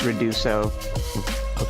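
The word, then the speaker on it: Ruidoso: It's Reduso, New Mexico.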